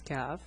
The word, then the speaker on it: ك: So the name is kaf, the pronunciation is ka. It's like the English K.